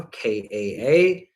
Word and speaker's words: ka: In the Egyptian tradition, this would be a ka, Kaa, pronounced ka.